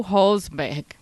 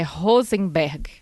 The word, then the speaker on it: Rosenberg: violenta, que é o Marshall Hosberg, é Rosenberg, acho que é assim que se pronuncia, que ele tem um